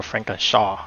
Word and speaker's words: Francorchamps: we're at the famous Spa Frank araw or Franken Shaw as they pronounce it today we're looking at